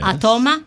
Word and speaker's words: Atoma: is the actually 11th chapter it's called atoma atoma which is the correct pronunciation Any Way You Want It All right